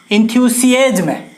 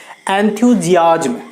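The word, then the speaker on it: enthusiasm: इंथ्यूजियाज्म, इंथ्यूसियाज्म नहीं, इसका actual pronunciation है एंथ्यूजियाज्म। जी हाँ, एंथ्यूजियाज्म, एस आई को हम ज से उच्चारित करेंगे, एंथ्यूजियाज्म।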